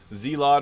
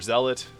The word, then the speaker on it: Zealot: buffer for your team zelot or Zealot uh get people tell me both different pronunciations of this this gives